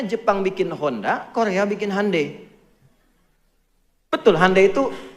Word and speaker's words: Hyundai: Makanya Jepang bikin Honda, Korea bikin Hyundai. Betul, Hyundai itu pengucapannya, Hyundai tulisannya.